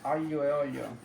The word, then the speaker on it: aglio e olio: I'm just cooking a simple olive oil garlic pasta, also known as aglio e olio. Is what? You pronounce that?